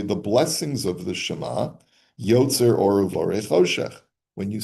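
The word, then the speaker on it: יוצר אור: blessings of the Shema, Yotzer or Uvorei Choshech. When you say that bracha, the Lo Yemar Yotzer or Uvorei Noga, that you have to be careful. Don't say Yotzer or Uborei Noga, that God forms light and creates Noga.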